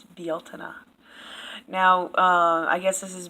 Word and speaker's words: Beltane: pronouncing BL Tina wrong they say Beltane and it's not it's BL tuna now I guess this